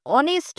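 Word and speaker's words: honest: তারপরে দেখো অ্যান অনেস্ট ম্যান। এখানে এইচ দিয়ে অনেস্ট কথাটা শুরু হয়েছে, কিন্তু কথার উচ্চারণের সময় আমাদের কি আসছে? আসছে, অনেস্ট।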